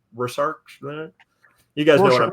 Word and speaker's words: Rorschach: It can be a good kind of Rorschach test. I'm not pronouncing that right. Rorschach.